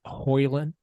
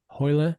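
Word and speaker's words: Højlund: And then we have Hoyland. Hoyland. So like the D is silent. He came out and talked to the press about it. And D is silent. So Hoyland.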